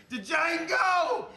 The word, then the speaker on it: Django: Django, you black son of a bitch! The D is silent here, baby.